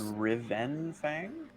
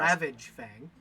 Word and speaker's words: Ravage Fang: Okay, so And you said Riven Fang? Am I saying it right? His Bill? name is I'm not- Ravage Fang. Ravage. Cool. Oh, okay, I had it wrong.